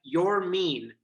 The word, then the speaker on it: Yermin: And he said, "You're mean," like pointed like you are mean. So that's how we're saying it.